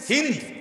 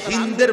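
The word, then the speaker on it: هند: নির্দেশে আবু সুফিয়ানের স্ত্রী হিন্দ বিনতে উতবা যারে বাংলায় উচ্চারণে হিন্দা বলে হিন্দ মূলত তার নাম আকারটা নাই আর কি হিন্দ এই হিন্দ নামের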